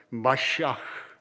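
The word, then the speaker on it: מָשִׁיחַ: 근데 히브리어 발음을 다시 찾아보니까 마시아, 이 흐 발음이 많이 나요.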